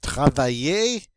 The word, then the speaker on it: travaille: still have more verbs this double l is going to be pronounced like a y so we come up with travaille and this word means